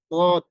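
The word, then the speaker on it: ضاد: হচ্ছে যে অক্ষরটি সেই উচ্চারণটি হচ্ছে দর আমরা এটাকে অনেকে জদ বলি তো এটার উচ্চারণটা যেই স্থানটা সেটা একটু কঠিন জায়গা উচ্চারণ করতে অনেকের দালের মত হয়ে যায় অনেকের সেটা হচ্ছে অন্যরকম হয়ে যায় জর মত হয়ে যায় তো এটাকে আমাদেরকে একটু মানে আরো বেশি প্র্যাকটিস করে উচ্চারণ করতে হবে তদ এরপরে হচ্ছে ক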